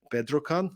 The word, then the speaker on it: Bedrocan: And currently, she's an HR manager at Bedrocan. Is that how you pronounce it?